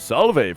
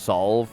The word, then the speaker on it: salve: can make a potent salve from its petals or just solve probably i was thinking of the word salvo or salvo when i decided to pronounce the e at the end all right is this